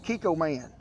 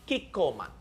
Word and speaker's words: Kikkoman: reading it to you now we recommend chico kiko man is that how you say it shannon who